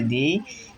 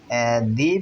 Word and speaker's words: the: অর্থাৎ এই কনসোনান্টটি শুরু হওয়ারের আগের টি এইচ ই দি এর উচ্চারণ হবে দা। তো আরেকটু ভালোভাবে মনে রাখার জন্য চলেন নিচে একটু যাই। দেখেন দি প্লাস ভাওয়েল অর্থাৎ দি এর পরবর্তী ওয়ার্ড যদি